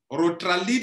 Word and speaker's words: Rotralead: Rotralide s'écrit R-O-T-R-A-L-E-A-D. Comme lead, Rotralide, comme leadership.